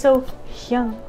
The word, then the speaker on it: SoHyang: It is SoHyang. Okay, SoHyang. How dare I come in think I'm going to react to someone I can't even say their name? How dare I? Anyway, SoHyang is singing Hug Me, and this is at